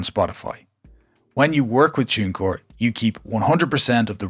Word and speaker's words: TuneCore: your music on spotify yes i pronounce it tunecore and not tooncore because this is the way irish people speak now moving on this